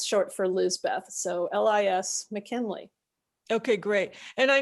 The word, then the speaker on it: Lis: s not a z rhymes with his and spelled the same way so it's uh and it's short for liz beth so lis mckinley okay great and